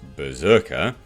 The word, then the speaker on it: BRZRKR: covers by raphael grandpa berserker pronounced berserker is described as a